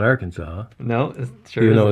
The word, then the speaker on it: Arkansas: That's not Arkansas. No, it sure Even though it isn't. sounds like it should, because you don't pronounce the last S.